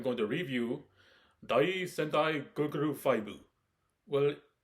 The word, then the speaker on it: Goggle V: and today I'm going to review day Sentai guguru fibu well it's really nice that I send like